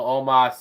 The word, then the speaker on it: Omos: Omos. Even though it's spelled almost. There's no A in his name.